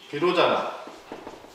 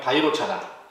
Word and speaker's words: 비로자나: 하니까 기억나죠 법신은 누구 비로자나 보시는 누구 도사나 하시는 부처님의 가르침을 근본 부처님이라고 하는 법신부처님은 비로자라고 했는데 언어에 가깝게 발음해보자면 바이로 차나 우리는 중국인들 때문에 비로자나라고 습관적으로 쓰고 있어요 보신 부처님들 중에 대표적인